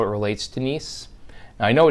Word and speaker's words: NIEM: how it relates to nice now I know it's it's it looks like it's misspelled that that's how it's spelled it is pronounced nice just like it was